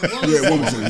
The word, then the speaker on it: Wilmington: Always Wilmington. Not just Delaware. Wington. Wington. Yeah. Be very specific. Wington. Wington thing. And the way is very Wington. Wington. Yeah. Wington. Yeah. You got to say it like that.